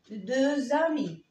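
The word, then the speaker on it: deux amis: طب لو عندي صديقين أمي، تبقى الإكس هنا لا تنطق، ولكن لو جه بعديها لتر فويل بنطقها ز ز. أقول إيه؟ دو زامي دو زامي، يعني اثنين من الأصدقاء.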